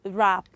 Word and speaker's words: wrap: what children wrong okay w-r-a-p is what is rap the w at the beginning of course we said